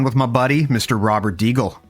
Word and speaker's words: Degle: how my grandpa always pronounced it he always pronounced it as deagle he said we're the deagles despite the fact that our specific spelling of the last name is an anglicized version of the last name so d-i-g-g-l-e so that you would if you would phonetically